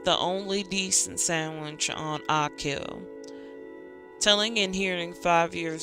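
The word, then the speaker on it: Achill: the province of kach pronunciation akill got it definitely been saying it wrong the entire time um sorry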